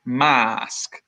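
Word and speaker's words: Maask: company in Brighton called masks and the reason I say it like that is because it's spelled em double a sk so the masks are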